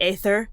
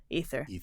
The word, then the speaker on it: aether: And so we still see it in words like ether, or people want to pronounce it into the aether, but it's actually just ether.